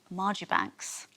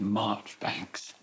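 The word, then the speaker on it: Marjoribanks: to do with a lord Margie Banks or is it March Banks I think it's March Banks classic British pronunciation so what do you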